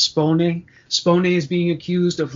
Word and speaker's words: Spone: you're not she's italian i guess the name is supposed to be pronounced spawning spawning is being accused